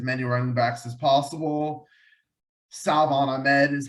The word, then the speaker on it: Salvon Ahmed: Salvon Ahmed is how it's pronounced, by the way, and Malcolm Brown are behind Myles Gaskin.